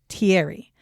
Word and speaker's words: Thierry: who is French, said, if you're American, say it like this. That's how I'm going to say it, which is Thierry.